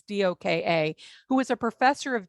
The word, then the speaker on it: Doka: term coined by kenneth i think you pronounce it doka it's doka who is a professor